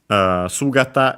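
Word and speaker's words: 姿: Sugata is accent on the first syllable, so be careful.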